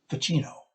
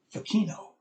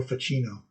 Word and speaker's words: Ficino: She goes, no, it's Pacino, like Al Pacino. Oh! Anyway, Marsilio Ficino.